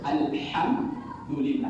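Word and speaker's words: الحمد لله: Alhamdulillah yang betul alhamdulillah menggunakan ha pedas makharjunnya dian tengah bunyinya ada bunyi pedas ha ha ha kalau dibaca alham makhraj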